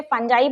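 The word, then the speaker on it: fungi: कवक, कवक भी सूक्ष्म जीव है, जिसको हम इंग्लिश में फंजाई बोलते हैं या फंगी बोलते हैं, जिसको जो भी प्रोनाउंसिएशन लगता हो।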